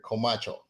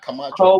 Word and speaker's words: Comarcho: Did I pronounce the last name okay? Comacho, not Camacho. Like Comarcho. you see Comacho. People sometimes call, hey, Camacho. I'm like, it's Comacho.